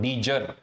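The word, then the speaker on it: de jure: उनके लिए हम लोग डी जर या डीजर आपको जैसे प्रोनाउंस करना है उनके लिए हम लोग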